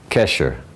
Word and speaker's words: Kesher: Kesher.